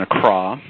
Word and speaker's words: Accra: embassy here in Accra I should stress the pronunciation of a car i think it was mispronounced no criticism i was mispronouncing a prior to my arrival but Accra Ghana capital of ghana and